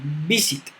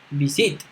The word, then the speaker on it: visit: Por ejemplo, nosotros decimos visit, visit. Nosotros tenemos el acento en la primera sílaba, porque no es visit, ahí sería acento en